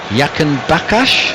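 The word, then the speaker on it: Jahanbakhsh: Al-Razira Yakanbakash, is that the right pronunciation? Yahanbach, but you can call him whatever you like. No, go on, give it to me. I know you're the Iranian correspondent. Ali Yahanbach. Yahanbach, right, that's the way I'm going to say it.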